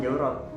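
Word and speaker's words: çorap: Nah, dan juga kayak misalnya kaos kaki itu bahasa Arabnya jawrok, tapi kalau di bahasa Turki itu tulisannya caurok, pakai P, pakai C, tapi bacanya juga sama jawrok, 11-12 lah gitu.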